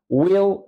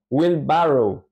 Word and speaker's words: wheelbarrow: construcción en inglés se escribe así y se pronuncia willrow willrow willrow willrow no es Will barrow vean acá có cambió totalmente est a pes